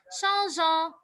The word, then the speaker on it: changeant: Mais on se souvient très bien que les verbes qui se terminent par GER, il faut conserver le E pour prononcer le son G. Donc, je laisse le E et j'ajoute ANT, ça devient changeant.